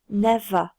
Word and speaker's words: never: Tu remarques que le R ne s'entend pas. Never.